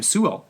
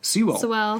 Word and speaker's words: Sewell: His name's Rufus, how do you pronounce his last name? Sewell. Sewell.